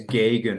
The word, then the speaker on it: Gegen: The correct way to say it is Gegen, like Gegen pressing.